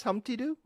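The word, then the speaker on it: Humpty Doo: fun that was fun I like that okay hump T do and I'm pronouncing it right yes Humpty do yes that's it okay that is absolutely perfect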